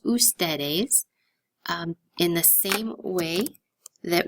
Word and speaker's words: ustedes: is not pronounced foods if you see UDS it is pronounced ustedes in the same way